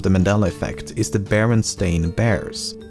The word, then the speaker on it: Berenstain: However, many remember the name as Berenstein and not Berenstain.